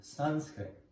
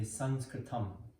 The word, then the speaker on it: Sanskrit: going to go over Sanskrit. Often pronounced Sanskrit, but it's really more like Sanskrit. And the original is really Sanskritam.